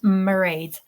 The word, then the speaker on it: Mairead: So Deirdre, for all of you wondering, and Mairead rhymes with parade, kind of.